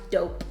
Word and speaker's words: Doughp: exactly so it's called dough pee so it's pronounced dope dope dear spoon liquid they give you a